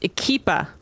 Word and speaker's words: EQUIPA: grenade I want to actually shoot there it's pronounced ikeepa wait where 'd that oh big equippa